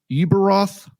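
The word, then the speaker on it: Ueberroth: Uberoth. Oh, Peter Uberoth.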